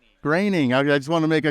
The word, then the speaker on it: Groening: it Matt graining or groaning graining I just want to make sure make sure I got his name right he always says his name rhymes with complaining so like before before